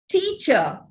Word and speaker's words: teacher: Also, teacher, doctor, the final r is not realized. Teacher, it ends with a sure sound.